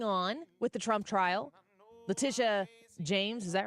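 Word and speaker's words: Letitia: what is going on with the Trump trial Laticia James is that right Laticia James I always think I'm thinking LeBron James when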